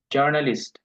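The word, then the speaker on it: Journalist: আর আরেকটা ওয়ার্ড আছে, নাম হলো জার্নালিস্ট। ইংলিশে যদি বলি জার্নালিস্ট, আর জার্মানরা বলে জর্নালিস্ট।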